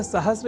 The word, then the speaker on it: सहस्र: तो यह शब्द सहस्त्र इस रूप में ही सर्वथा शुद्ध है।